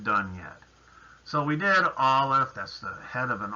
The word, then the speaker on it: Aleph: And the sound, of course, is ah. A lot of people try to tell you that Aleph is silent. It's not true. It has a sound.